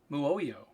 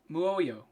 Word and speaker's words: Muoio: Muoio. Muoio. Muoio. Muoio. Okay, so there's two O's. I got to do a mu and an O.